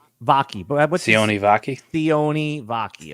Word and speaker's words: Sione Vaki: Sione Vaki. Sione Vaki?